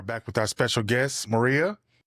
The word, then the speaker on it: Mari: Well, so I've always gone by Mari. Like my like M A R I. That's really hard to pronounce for everyone in the US.